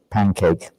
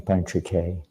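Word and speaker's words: पञ्चके: I'm sure if you're Scottish, you'd say pancake. Right? Anyone from England would pronounce that. Shweta dur stew pancake. Stew pancakes. Something like that. A little different pronunciation, panchake.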